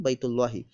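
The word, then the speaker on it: بَيْتُ اللهِ: House of Allah, Baytu Allahi. Kaaba is the house of Allah. Ka'batun Baytullahi. Ka'batun Baytu Allahi, or pronounced as Ka'batun Baytullahi.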